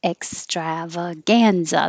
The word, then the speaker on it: extravaganza: And it does look like extravaganza, but it's extravaganza. The strav is stretched longer, but the gan is higher.